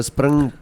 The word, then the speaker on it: Springbok: I want you guys to roll your R's when you say it. So Springbok. Springbok.